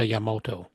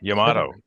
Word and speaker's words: Yamato: a Montana comes up against a Yamoto yeah Yamato Yamato Yamoto you're close you're very close yeah you haven't been